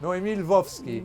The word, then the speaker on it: Noémie Lvovsky: They don't know, Yes, okay. it's Noémie Lvovsky.